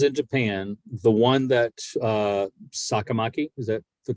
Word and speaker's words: Sakamaki: The one that Sakamaki, is that the correct pronunciation? Yes. That Sakamaki, he beached.